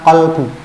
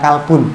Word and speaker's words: qalbu: oleh raja yang namanya qalbu. Bukan kalbun. Nek kalbun itu anjing. Qalbu, bukan manajemen kalbun.